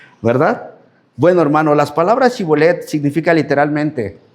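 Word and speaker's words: shibboleth: Esa de chivolet decían cibolet y pues sabían que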